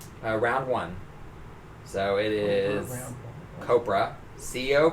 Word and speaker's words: Copra: hey uh Cobra around one so it is copra Co P R a so I think it's not pronounced Cobra but it's copr a Michael effected then I